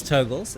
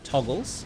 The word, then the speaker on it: Togles: By the way, guys, it is Toggles. It is not Toggles. So, while I've heard other people pronounce it Toggles, do yourself a favor, write down goggles, right? And when you've written down goggles, tell me how many G's are in the middle.